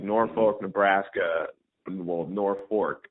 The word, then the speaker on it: Norfolk: Norfolk Nebraska the world Norfork have to be careful to say even though it's spelled Norfolk but it's North Fork and where Johnny Carson